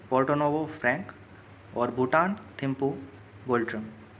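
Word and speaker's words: Ngultrum: एंड यहाँ पर silent रहेगा गाइस। इसकी जो करेंसी है भूटान की उसको प्रोनाउंशिएट करते हैं हम गुल्ट्रम।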